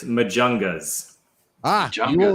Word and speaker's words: Majungas: the name of your band and how to pronounce it can you do that for us sure it's majungas ah john you're right that was wrong and